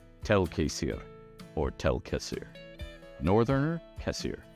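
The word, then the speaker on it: Tel'Quessir: the entire elven race, Tel Kassir, which it can also correctly be pronounced Tel Kassir, refers to the people. Tel Kassir or Tel Kassir. You can lengthen the A if you wish.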